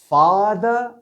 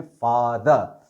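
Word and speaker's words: farther: फार से 2 एडजेक्टिव्स बनती हैं, फादर स्पेलिंग आर आएगा इसमें बीच में, मगर प्रोनाउंसिएशन वाइज बाप को हम अंग्रेजी में क्या कहते हैं? फादर। और ये प्रोनाउंसिएशन वाइज ये भी फादर ही रहेगा, अलबत्ता इसमें आर आता है बीच में, फादर।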